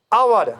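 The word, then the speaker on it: hour: Alphabet तो यहाँ consonant होता है, मिसाल के लिए एन आवर, हम इसको हवर नहीं कहते हैं क्योंकि एक साइलेंट रहता है, इसलिए इसकी आवाज़ जो निकली है आवा, इसलिए हमें यहाँ एन इस्तेमाल करना है।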